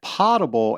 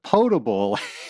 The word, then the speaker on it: potable: I don't remember the exact question, but I said potable instead of potable. And you corrected me. You said, it's pot from the Greek that means to drink.